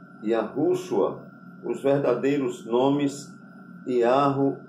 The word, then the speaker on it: Yahuh: Yahu, ou seja, YAHUH é a transliteração oficial e internacional, tá bom? E para entender, se pronuncia assim, I-A-R-R-U, certo? Yahu.